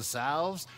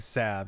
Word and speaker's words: salve: desire i can provide he did pronounce the l and salve i don't know i always like saying sav it makes me feel cool any word where you can just ignore some of the letters makes you feel like a